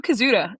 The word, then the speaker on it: Koszuta: Kyle Koszuta. I think that's how you say it, correct? That's right.